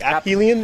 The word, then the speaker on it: Aphelion: worse yeah computer well apparently UK version is like you pronounce the you pronounce the P really hard like happy Liam yeah I've been I